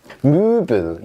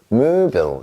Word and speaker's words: Möbel: 자, Möbel 얘는 무슨 뜻이냐면 가구란 뜻이에요. Möbel 이렇게 합니다.